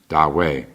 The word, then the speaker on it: Ta Hui: the Sung dynasty masters, Da Wei. By the way, it's spelled the first word is Ta. The T is pronounced like a D, Da, and then the second word Hui.